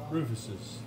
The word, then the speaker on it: Rufus's: Rufus's.